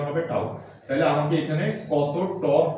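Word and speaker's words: tau: এবং এটার উচ্চারণ হচ্ছে টাও। এটার উচ্চারণ কি? টাও। ঠিক আছে? নাম টর্ক। প্রতীকটাকে কি বলা হয়? প্রতীকটার উচ্চারণ হবে কি? টাও। কি বলছি বোঝা গেছে? প্রতীকটার উচ্চারণ হবে টাও।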